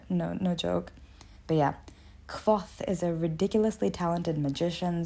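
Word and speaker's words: Kvothe: rothfuss it centers on the epic adventures of cough yeah it's spelled k-v-o-t-h-e and it took me forever to figure out how to say that i actually had to google it no no joke but yeah cloth is a ridiculously talented magician swordsmen musician you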